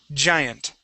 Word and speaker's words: Giant: and it's the punch sound. We punch into our throat. Watch here. Giant. Giant. Giant. Giant. Okay, that's how we pronounce the J sound.